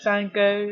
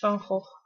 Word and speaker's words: Van Gogh: oh yeah um uh he's the painter who's usually called Van Gogh or something in English-speaking countries but it's Funko um so the first